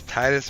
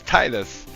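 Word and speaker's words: Tidus: Hearts 1, I guess, pronounced it Titus. And I refuse to say Tetus. So it's Titus for me, baby. Like I'm not saying Tetus.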